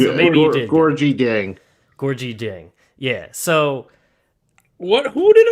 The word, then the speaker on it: Gorgui: I always mess his name up, but Gorgui Deng. Gorgui? It's Gorgie. Are you sure? Because you don't get Nigerian names correct a lot. Sorry, he's Senegalese. He's Senegalese. So maybe you did. Gorgui Deng. Gorgui Deng.